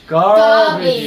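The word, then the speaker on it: garbage: 하냐면 그냥 가비지가 아니고 가에서 R이 입천장에 붙을까 말까 그래서 가알비지는 아닌데 꼭 느낌이 가알비지 발음하듯이 하면 돼요.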